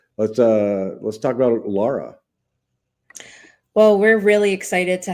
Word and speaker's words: Lara: You told me earlier it was like like guara. Lara. Yes. Yeah. Love it. I love it. That's really the only thing I know that rhymes with it.